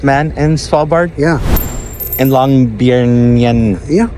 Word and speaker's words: Longyearbyen: In Longyearbyen. Yeah. How do you say? Longyearbyen. Longyearbyen. Longyearbyen.